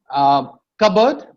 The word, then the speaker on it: cupboard: Cupboard. Cupboard. Please, a lot of people have try to pronounce the P over there. It's not required.